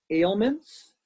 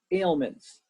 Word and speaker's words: ailments: were reading this were ailments ailments two syllables can you say ailments ailments good say it by yourself good make sure you put the S on the end not just ailment but ailments with the s ailments good and the